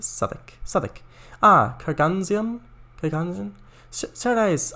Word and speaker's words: Southwick: Pronounced Southwick.